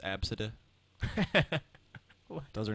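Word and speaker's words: Abcde: Or the people who name their children spelled ABCD, pronounced Absida.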